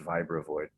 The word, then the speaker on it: Vibravoid: in Germany they say because of the German they say Vibravoid, but you know in English it's pronounced Vibravoid.